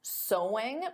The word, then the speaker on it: sewing: Because of course the pronunciation is the same as so. There's no sewing though adding an ing. So sewing is the activity but the pronunciation is the same as the word so.